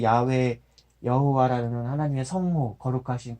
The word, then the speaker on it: 야훼: 여호와예요. 그러니까 애초부터 그 표현 자체가 그런 발음은 없는 건데 여호와란 발음은 없는 건데 언젠가부터